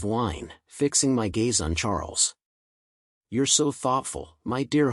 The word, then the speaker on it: Charles: fixing my Gaze on Charles you're so thoughtful my dear husband she replied Charles pronounced the French way as charl struck me as your